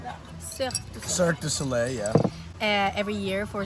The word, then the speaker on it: Cirque du Soleil: yeah so i dance with signo soleil you pronounce it like that yeah cirque du soleil yeah uh every year for six months in